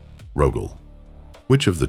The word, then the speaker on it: Rogal: one of 2 ways, with the soft sign, which gives you Rogal, or with the hard sign, which gives you Rogal. In the second case, the name is pronounced exactly as we pronounce our primarchs, hard on the end. Rogal.